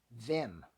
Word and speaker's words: Wim: I think his first name is pronounced Wim, but then when you ask Google, it says his name is the Vim with a V sound, which does make sense because of where he's from.